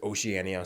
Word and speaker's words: Oceania: I'm talking about Oceania I've heard it pronounced other ways Oceania Oceania but the one I've heard the most is Oceania so I'm going to call it that now in Oceania got